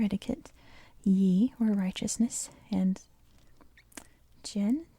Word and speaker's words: jen: ye or righteousness and Jen says it's pronounced Jin meaning kindness and benevolence